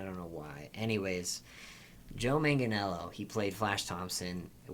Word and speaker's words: Manganiello: I feel like I have dyslexia too, because I just literally read his name all the time as Mangelio, and I don't know why. Anyways, Joe Manganiello, he played Flash Thompson.